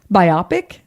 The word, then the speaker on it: biopic: I was listening to our episode and I mispronounced it twice. Biopic.